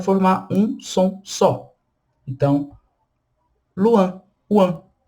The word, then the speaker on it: loin: Luan, que é longe, distante. Luan, luan. E quan, que é canto. Quan. Luan, quan. Cuidado para não pronunciar loin e coin.